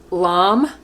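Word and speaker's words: lame: and i'm using a curved blade lamb it's spelled l-a-m-e or you can use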